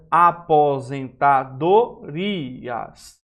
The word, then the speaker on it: aposentadorias: essa aposentadas não é aposentadorias a pron não é rias é aposentadorias veja que há aqui a presença de quem do iato e não do ditongo é diferente daqui ó Previdenciário